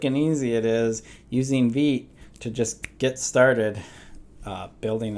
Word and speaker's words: Vite: so getting started um this is pronounced V I have a tendency to say Vite all the time so if I